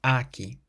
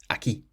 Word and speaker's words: aquí: And we have an accent on the I, so that's why we stress the last syllable. So it's not aquí, but aquí.